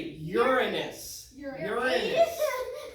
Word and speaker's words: Uranus: and everybody say this planet's name right say uranus that's how you say it it spins sideways